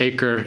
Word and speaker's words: Akka: but the city of akka sometimes pronounced acre acre akka in Israel